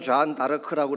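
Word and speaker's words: Jeanne d'Arc: 불란스식으로는 존 다르크라고 이렇게 발음을 하지만 영어식으로는 조앤 오브 아크예요.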